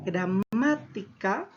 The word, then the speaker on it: gramática: grave si analizamos ahora la palabra gramática cierto tiene la mayor fuerza de voz en la antepenúltima sílaba y por lo tanto todas las palabras esdrújulas porque es una palabra esdrújula se van a tildar sin excepción alguna luego nosotros si analizamos